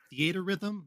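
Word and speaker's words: Theatrhythm: butcher the name the theatrum final bar line I don't think anyone knows how to pronounce it but I always just call it theater Rhythm because it's those two words jammed together but I don't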